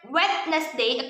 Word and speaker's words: Wednesday: People usually read Wednesday according to the original word, but it is wrong. The correct pronunciation is Wednesday.